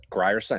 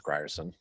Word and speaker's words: Grierson: did in that cavalry have you been announcing it properly grier scent i think it's gryerson that's all yeah ryerson